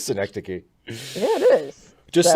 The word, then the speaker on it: synecdoche: i always i i i always pronounce it synecdoche i thought that was i'm like oh well maybe it's that like i don't know i've just i've just seen it and then i went i'm like hey internet how do i pronounce this and it said dana you've been wrong it is synecdoche yeah it is just